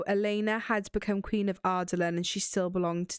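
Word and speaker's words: Adarlan: In it Wild, how Americans say Ardalan. How do they say? Ardalan. Ardalan. Like Otterland. Oh, yes. At first, I was like, I don't know what they're saying. Ardalan.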